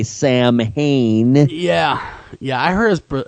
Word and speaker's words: Samhain: Samhain. It's the way it's pronounced in Celtic. We would say Samhain.